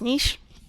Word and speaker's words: niche: rich with a niche i prefer to pronounce it the french way which is niche um and if you